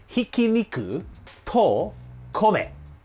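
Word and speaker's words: 挽肉と米: shop is 'Minced Meat and Rice' Actually, it's pronounced 'Hikiniku to kome' Which means Minced Beef, and the 'to' in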